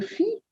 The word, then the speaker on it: filles: You note there are There is an S added after "filles" because there are two girls, it's plural, but you do not pronounce the S. It's silent.